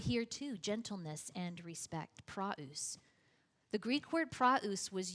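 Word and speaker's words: πραΰς: The Greek word is praus, P-R-A-U-S, if you want that transliteration or how to spell it, praus.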